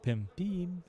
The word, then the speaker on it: Pim: I'm frustrated but um they they tend to say be instead of Pim yeah it's like they don't hear the difference between e and and